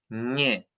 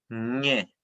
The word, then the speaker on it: nge: En unificado se escribiría NGE, en Ranguileo GE, Azumchefe GE, ¿cierto? Pero la pronunciación en todos va a ser la misma y se va a pronunciar ñe, ñe, ¿ya?